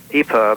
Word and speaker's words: EPIRB: uh satellite it's an epub 406 it's it's pronounced eperv it's emergency position indicating radio beacon so this